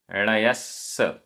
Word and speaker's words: णयस्स: णयस्स णयस्स आधा सा पूरा सा।